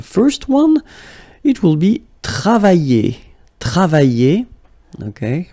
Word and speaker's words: travailler: And then the first one, it will be travailler. Travailler. Okay, remember when you get this I and then double L like that and a vowel, I, travailler, okay, travailler, and it means to work, okay.